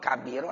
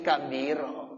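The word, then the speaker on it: كبيرا: Nah kalau sekarang udah enak, oh ada titiknya 3, ya bacanya kasiro. Kalau titiknya 1 di bawah bacanya apa? Ya kabiro.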